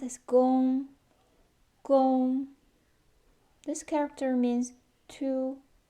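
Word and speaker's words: 工: It's pronounced as gong, gong.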